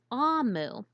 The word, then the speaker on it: Omu: And in that language, this word is pronounced Amu.